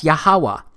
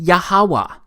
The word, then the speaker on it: YHWH: simple back then that it vocalized each consonant with an ah sound without specifically marking that sound between consonants so this yhwh it's pronounced yahawa it also turns out